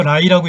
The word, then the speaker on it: 来: 그래서 중국어의 오다라는 말은 한국어의 올레를 풀어서 라이라고 읽는데요.